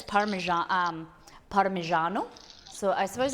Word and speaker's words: Parmigiano: um joey is it parmesan how do you pronounce it molly we say parmesan but like in italian it's parmesan parmigiano so i suppose it's closer to you're saying